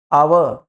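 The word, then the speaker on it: hour: एच को छोड़ने के बाद यहाँ से इसका उच्चारण होगा ऑनेस्ट, यानी कि वॉवेल की साउंड आ गई। आवर, आ की आवाज आ गई, वॉवेल का साउंड आ गया।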